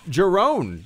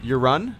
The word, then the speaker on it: Jeroen: And Jerome, not your fault. Same thing happened. Pronounced. My name is pronounced Jeroen. Jeroen? Did I Jeroen? I have a Dutch name that can't be translated to English.